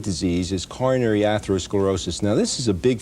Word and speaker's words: atherosclerosis: Well, how does atherosclerosis, is that the way you pronounce it? Yes, it is.